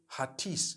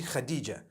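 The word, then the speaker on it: Hatice: In Turkish, some people spell it H-A-T-I-C-E. I would say Hatis for that. No, it's actually Khadija.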